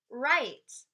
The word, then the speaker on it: write: practice reading ah I write I mmm sign hmm ah not look and right we don't say the w we're just saying that